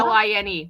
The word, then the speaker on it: Saline: And Salina, they spelled the county name wrong. Selena? Saline.